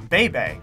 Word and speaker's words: Bebe: It's pronounced Bebe, and I'm actually happy I pronounced it right.